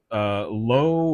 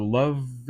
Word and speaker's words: Loewe: was developed in Germany by the Lowe or Loved, or I pronounce it Lowe, Loewe. However you want to pronounce that. If you speak German, that's great. I don't, so we'll call it Lowe for our purposes of today's video.